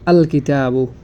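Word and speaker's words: الكتاب: আমরা বুঝতে পারলাম যে যেহেতু এখানে কাফ হরফটি রয়েছে এজন্য এখানে লামটি আলাদাভাবে স্পষ্ট উচ্চারিত হচ্ছে ঠিক তো দ্রুত এখানে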